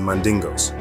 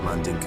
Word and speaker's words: Mandinka: these Jews as the mandingos or the mandinka tribe in Mali the term Mandingo is a mispronunciation of mandinka and was often used